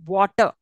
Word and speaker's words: water: the now for example water I will split it saying that W see I'm not saying R sound there W water are when it comes at the end you should never pronounce it okay that's a silent